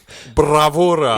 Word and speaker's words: bravura: You should roll your R's. Bravura.